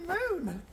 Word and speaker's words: Moone: It's old, it's a cross, and it's in Moone. Now, not on the actual moon. No, it's spelled M-O-O-N-E.